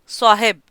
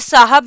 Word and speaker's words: साहिब: का एक लफ्ज़ है साहिब। अब ये साहब नहीं है, इसका जो ठीक प्रोनाउंसिएशन है वो साहिब है।